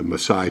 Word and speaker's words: Maasai: presented in chapter 6, the Maasai tribe. I'm pronouncing that correctly. Yes, you are.